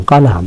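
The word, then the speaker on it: column: কলাম, কলামের ক্ষেত্রে খেয়াল করেন এন এর উচ্চারণ হয় না, যেটাকে খাম বলে থাকি আমরা।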